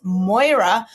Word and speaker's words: Moira: Moira, make sure we say it right, it's Moira, got up for a win in the filly and Mare Turf, and Citizen Bull won the Juvenile.